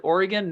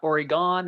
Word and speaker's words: Oregon: be here and you nailed it you said oregon not oregon or all the other creative ways i hear people pronounce it you hit it right on you